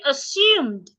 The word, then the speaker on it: assume: option given is usually assumed I didn't say assume please pay attention this word is not assume the S should not be changed to a zed a lot of people